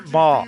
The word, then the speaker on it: Mort: Monsieur Mort. Yes! Monsieur Mort. Yeah, okay. It's actually Monsieur Mar. Like the T at the end of Mar is silent.